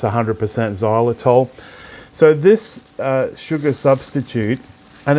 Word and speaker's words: Xylitol: normally but look what I've got here Xylitol pronounced Xylitol I've got it in a plastic bag because